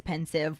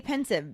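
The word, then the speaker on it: Pensieve: a pensive I say pensive because it's the combination of the word pensive spelled p-e-n-s-i-v-e and a sieve which is spelled s-i-e-v-e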